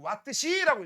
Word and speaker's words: Wh: WH라고 쓰고 와트시라고 읽어.